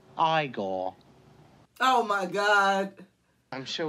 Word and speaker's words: Igor: You must be Igor. No, it's pronounced Igore.